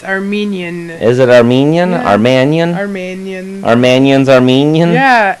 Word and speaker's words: Manian: name Marian Mannion Mannion I always say like mania Romanian it's Armenian is it Armenian or Mannion our Mannion's Armenian yeah